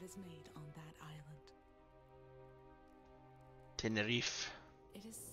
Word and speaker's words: Tenerife: So you depart on a ship to the island of Tenerife to gather more information. Oh, that's how you pronounce that, is that?